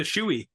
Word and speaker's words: Shoei: Shoei. Pardon? Get a shoei.